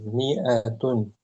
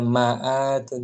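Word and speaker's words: مائة: Miatun. Ada alif setelah mim itu dia penulisannya saja panjang tapi jangan dibaca panjang. Miatun jangan miatun atau jangan maatun jangan miatun.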